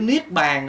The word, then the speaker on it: Niết Bàn: không có phiền muộn chữ niết bàn đó là tiếng Phạn đúng ra phiên âm tiếng Phạn là niếp Bana người Trung Hoa đúng ra phải đọc là Niết Bàn Na nhưng mà Bởi